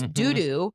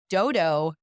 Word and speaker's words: Dou Dou: If I had a dime for every time someone pronounced this Dou Dou Cafe, I would be a multimillionaire. It is Dodo through and through.